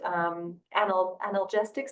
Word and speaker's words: analgesics: example, if people used analgesics, tell me if I'm not saying it correctly. Is it analgesics? I think. Yeah. Analgesics. Yeah, there's no T.